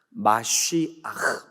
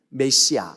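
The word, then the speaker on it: מָשִׁיחַ: 마쉬아흐 발음이 이래요. 원래 히브리 말 발음 마쉬아흐 이렇게 발음해요. 근데 어쨌든 우리는 메시아 이렇게 알고 있죠, 그죠?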